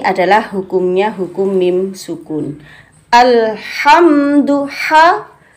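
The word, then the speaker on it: الحمد لله: Alhamdulillah, bersih, jelas, bersih, tidak ada suara dengkuran. Karena letaknya di dalam tenggorokan yang paling atas. Ha, ya. Yang paling atas. Ha, dilepas. Ha, tanpa ada dengkuran. Atau alha, itu agak ke bawah. Ini paling atas sehingga bunyinya tampak bersih sekali.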